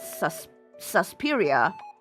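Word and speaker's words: Suspiria: It's not spelled that way. It's spelled Sus Susperia. So, instead of an E, it's a it's a I. It's an I. S U S P I R I A.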